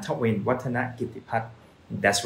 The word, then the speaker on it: Wattanagitiphat: you can repeat after me not to win water not give the part that's right so which name would you like me to pronounce next Let's us know comment below and